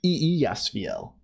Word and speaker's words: Eliasfiel: Oh, I didn't say your name right. I never say it right. I sometimes look at the other screen. I just like, no, it's Eliasfiel.